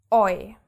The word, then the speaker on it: eu: Then we have EU, which is always pronounced oi. EU becomes oi.